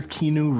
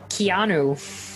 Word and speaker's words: Keanu: I'm channeling my inner kinu Reeves kinu kinu kinu k k who's K Kino Reeves Keanu oh keano Reeves sorry for the mispronunciation now moving